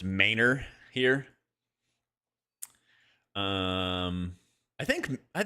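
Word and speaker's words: Manor: But yeah, Ma N O R is pronounced Mayor here.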